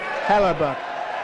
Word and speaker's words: Hellebuyck: gold tender play as well as goalie Connor Hellebuyck. Oh, he pronounced it correctly.